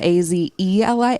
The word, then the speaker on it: Azelia: And he found Azelia, Azelia. It's spelled different from the flower, but it sounds like Spanish also.